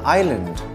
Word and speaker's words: island: S as in island.